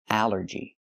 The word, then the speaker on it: allergy: The rule is ALL makes the sound all, like ball and call. But here it makes the A sound, the short A like in apple and black. Allergy. It's 3 syllables. Allergy. The stress is on the first syllable.